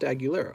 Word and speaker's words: Aguilera: you ready ac marshall it's like christina aguilera oh so this just pronounced aguilera okay cool you know